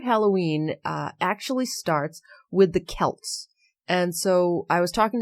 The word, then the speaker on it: Celts: But the Celts, C-E-L-T-S, it's spelt the same as our Celtics that we have here in Boston, but we say Celtics wrong so it should be Celts.